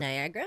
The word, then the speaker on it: Niagara: Niagara Falls.